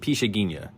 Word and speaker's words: Pixinguinha: That's Pixinguinha, and it's my understanding it's pronounced Pixinguinha. Born in 1897, lives till 1973.